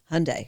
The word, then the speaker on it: Hyundai: They now know how to pronounce Hyundai.